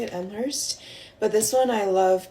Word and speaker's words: Elmhurst: That's how you say it, Elmhurst.